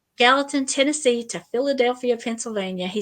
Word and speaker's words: Gallatin: the Paranormal um and from Gallant Gallatin I guess that's how you say it yes ma'am Gallatin Tennessee to Philadelphia Pennsylvania